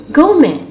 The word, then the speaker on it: gourmet: The silent letter T. Interview, buffet, gourmet, rapport, penchant, listen, glisten, hasten, fasten, castle, whistle.